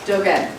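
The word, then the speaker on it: Dōgen: to the work of 13th century Zen master Dogen, which I think I mispronounced, Charlotte, didn't I?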